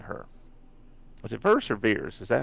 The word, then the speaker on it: Vers: Was it Verse or Veers? Is that how they pronounce it? Veers. Like Veers.